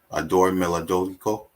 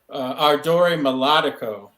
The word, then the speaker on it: Ardore Melodico: You had authentic work ethics, and the last one, and correct me if I'm pronouncing it wrong, Adore Melodico. Ardore Melodico.